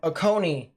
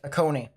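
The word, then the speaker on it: Oconee: latest tornado warning that just got issued um aone is what it's pronounced perfect aone so um I was just about to mention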